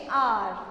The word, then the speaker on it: hour: We waited there for dash hour. अ आया sound में, भले एच है लेकिन एच साइलेंट है, तो क्या आएगा, एन आर.